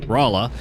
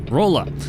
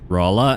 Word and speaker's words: Rolla: of drove him nuts was my pronunciation um of well Raa uh but I kept calling it roll up and unfortunately I noticed